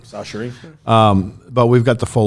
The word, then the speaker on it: Chachere's: I've sold it for like 40 years, and I used to call it Sacheries. Now I'm told it's just S-A, Sacheries. Sachery.